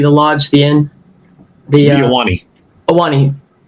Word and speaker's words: Ahwahnee: The Ahwahnee. Ahwahnee, that's it.